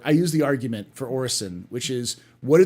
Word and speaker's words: Orison: people like well no well cig says Orizon I'm like that's how I know they don't play their game because it says orison everywhere in the goddamn game they're always playing that